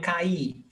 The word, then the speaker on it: caí: Caí, eu caí. I fell down. I fell down on the floor. Eu caí. A, I. It's not, there is the accent because it's stressed.